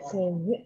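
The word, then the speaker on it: Gagné: Oh, Pak, bacanya Gagne ya.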